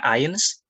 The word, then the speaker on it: eins: Kemudian EI dibaca AI, berarti bacanya Eins.